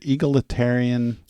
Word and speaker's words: egalitarian: It was called, did I say egalitarian? Egalitarian. The teacher in me is going to teach him how to say it the right way. So we're talking about gals. So egalitarian.